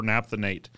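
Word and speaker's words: naphthenate: i'm pronouncing that right not the night it's funny that different reasons here different regions pronounce things differently uh pronounce things differently so we would call that copper naphthanate uh coppernaphthonate yeah to speed up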